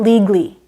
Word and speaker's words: legally: Legally is not legally. It's 3 syllables.